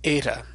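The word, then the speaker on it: ἦτα: so we can represent the original sound of eight a sort of like the e an error error which we hold a little bit longer than a normal short e but the way we pronounce it nowadays and our reconstructed or what's called a Raz nian pronunciation tends to be closer to a long a sound so like the a and ace and that's how we'll pronounce ada in this class as a now to draw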